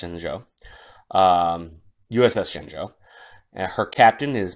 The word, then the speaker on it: Shenzhou: It's spelled Shenzhou, but pronounced Shenzhou.